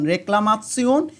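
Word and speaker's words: Reklamation: হয় যেমন quartz choose ঠে ই ও এন এর উচ্চারণ তসসিউন হয় যেমন রেকলামাতসিউন ইনফোয়ামাত সিউন আসলে এখানে সিউন উচ্চারিত হয় কিন্তু সিউনের পূর্বে একটা ত এর মত ধাক্কা দেয় সেজন্য আমি তসিউন লিখেছি রেকলামাতসিউন ইনফোয়ামাত সিউন ই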